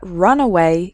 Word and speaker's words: runaway: speed before taking off so the first word has three syllables run away and the second word has just two syllables runway completely different meanings okay